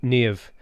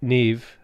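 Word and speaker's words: Niamh: a colleague from ireland by the name of nev the way you pronounce it neve like steve she keeps saying is so much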